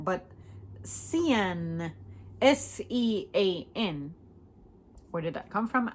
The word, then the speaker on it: Sean: S-E-A-N, like jeans, but Sean, but Sean, S-E-A-N.